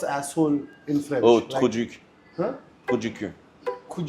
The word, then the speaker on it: trou du cul: oh, Like- trou du cul. Huh? Trou du cul. Could you kill? Trou du cul. Could you kill? You pronounced it well.